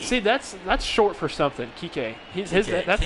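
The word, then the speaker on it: Kiké: It's actually Kike Hernandez is how they pronounce Kike.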